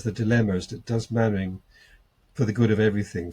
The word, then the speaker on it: Mainwaring: This is a man who would say Don Juan and Don Quixote out of sheer body-mindedness, and he always called Mannering Mainwaring.